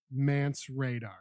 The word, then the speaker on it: Mance Rayder: For sure, but it's pronounced Mance Radar. Yes.